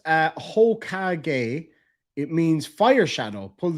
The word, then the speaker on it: Hokage: It's pronounced Hokage.